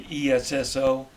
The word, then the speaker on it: Esso: Company of New Jersey which was abbreviated to SL for standard oil which was re reer to Esso as the way to pronounce it it became the corporate